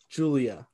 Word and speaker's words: Giulia: Oh, it's Julia, Julia. but it's spelled like Yeah. Giulia. Yeah, Julia.